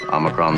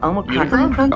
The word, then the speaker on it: Omicron: Unicron? Omicron. Yeah, I think we're good. Yeah, so now you know. We're good. That's how you say it, according to Star Trek.